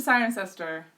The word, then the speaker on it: Cirencester: the Cotswolds mmm yeah I went to sign ancestor that's how you pronounce it yeah so what else